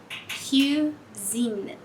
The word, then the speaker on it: cuisine: Eu não fecho a minha boca pra falar U. Eu falo com um meio sorriso, assim. Sur. Je suis sûr. D'accord? Ou cuisine. Cuisine. Você pode falar tudo sorrindo.